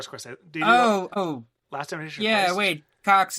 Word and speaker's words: Cocks: Yeah, wait, Cox. It's like spelled like COCKS, right?